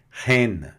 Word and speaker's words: reine: E mais I tem o som de E, né? Reine.